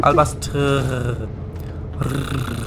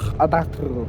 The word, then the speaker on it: Albastru: Albastru. Always roll your R. Albastru. Albastru.